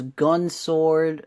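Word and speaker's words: Gun X Sword: from next up is gun sword the complete series i'm pretty sure the x is silent I don't ever pronounce it with the ex but after that is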